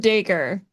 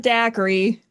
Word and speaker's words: Dacre: Lord Daker, not Daiquiri. Not like a drink.